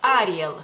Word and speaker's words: Ariel: palabra digamos así pero en lituania decimos Ariel Ariel porque la l en lituania esa como más dura digamos así solamente cuando va delante de ciertas letras este es cuando se hace como más suavecita Pero al final de las palabras es dura y este acento lo ponemos en la a Ariel Ariel y también